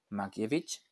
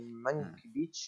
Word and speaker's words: Mankiewicz: Mankiewicz, se pronuncia así, ¿no? Mankiewicz y Orson Welles, efectivamente. Mankiewicz.